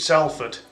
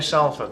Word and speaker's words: Salford: It's, you know, if you think of the name Sally, you know, the girl's name Sally, S-A-L-L-Y. Take off the L and the second L and the Y.